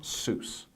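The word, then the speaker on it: סוס: Hebrew grammar loves because it's got that nice unchangeable long vowel in the middle and it's one syllable Seuss or horse so masculine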